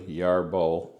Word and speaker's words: Yarbo: What you see in front of you is the Yarbo, and I can say it properly, Yarbo.